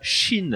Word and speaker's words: Qin: crois qu'on prononce pas Kin mais autre chose non on prononce pas Kin ça c'est la prononciation à la Gandalf et la vraie prononciation c'est Chine ouais c'est ça c'est